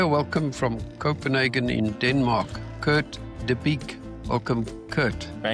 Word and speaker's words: Kurt De Bique: Welcome from Copenhagen in Denmark, Kurt Deique.